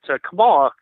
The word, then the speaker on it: Kamala: your viewers know, that Kamala Kamala, as she pronounces it, means terrible and horrible in Finnish.